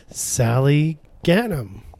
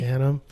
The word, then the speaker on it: Sally Ghanim: Huddled away in the little village here is Therapods, and I'm sitting here with the owner, Sally Ghanim. Did I pronounce that right? Absolutely. Ghanim.